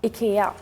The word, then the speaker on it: IKEA: Yeah, and everyone pronounces it differently. Yeah, from what it's actually called. What is it actually called? IKEA.